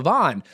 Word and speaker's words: Van: And I was like, "Oh, I his name is Joshua Vahn." And she goes, uh but it's spelled Van. I was like, "Ah, I think it's Vahn." But so, the whole time I've been calling you Joshua Van when it was Joshua Vahn.